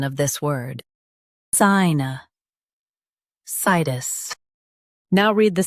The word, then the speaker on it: sinusitis: Sinusitis. Emphasize sigh and keep tis soft.